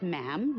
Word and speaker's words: ma'am: For instance, when you're addressing the Queen, she is Her Majesty, and after that, it's just ma'am, rhymes with jam, and it's always a curtsy, especially in public.